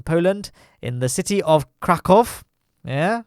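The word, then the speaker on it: Kraków: in the city of Krakow. Yeah, I was saying last week that I mispronounced that city, so I'm pronouncing it correctly first time, this time around.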